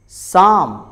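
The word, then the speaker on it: psalm: अगर letter P के बाद एस आ जाए तो लेटर पी साइलेंट होता है. जैसे साइकोलॉजी, साइकोलॉजी. साम, साम.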